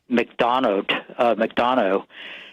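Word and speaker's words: MacDonough: Her name is Elizabeth, and I think the last name is pronounced McDonough.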